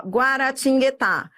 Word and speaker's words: Guaratinguetá: Adriana, Guaratinguetá. Ó, Guaratinguetá. Esse guá, eu pronuncio, não é? É, você pronuncia. Você pronuncia esse U.